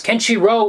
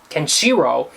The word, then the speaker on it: Kenshiro: I don't know and everyone else is always saying can Shiro which is normal for an English pronunciation of everything the accent goes on the kenshiro instead of kenshiro she's the only one